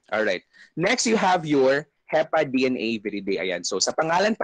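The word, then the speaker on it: Hepadnaviridae: It's your HEPA DNA viridae. So it can already give you an idea na, ah, okay, it's a DNA virus, HEPA DNA viridae.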